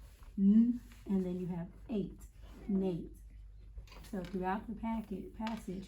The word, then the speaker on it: Nate: went out however this n a t e we have that e that makes this a long a so Nate say it Nate say it say